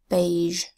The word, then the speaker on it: beige: that says a then a G that says jus that's the second sound of G which is softened by a silent final E that's telling us that the G says just but a beige next word surveil to surveil